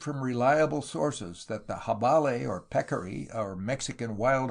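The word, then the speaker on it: jabalí: The jabale, pronounced javale in the Mexican version of the Spanish language, is the wild hog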